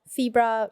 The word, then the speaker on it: Fibra: so first of all febra rhymes with zebra yeah and then if